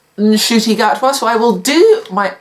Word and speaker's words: Ncuti Gatwa: We've got 15th Doctor, who I've been calling Ncuti Gatwa. I've now learned his name is pronounced Ncuti Gatwa, so I will do my utmost to pronounce his name correctly.